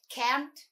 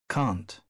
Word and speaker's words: can't: Итак, I can't conceal it. Я не могу скрывать это. Глагол «не могу» в британском варианте произносится через долгий звук «а». Can't. В американском варианте это широкий звук «э». Can't.